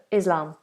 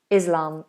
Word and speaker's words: Islam: So Islam, Islam, it's a voiced S.